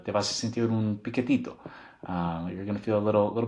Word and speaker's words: piquetito: Like te vas a sentir un piquetito.